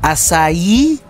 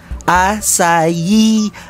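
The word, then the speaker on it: açaí: natin Pero Alam niyo ba na ang tamang pronounce dito Be ay asay asay asay mula sa asay palm tree na native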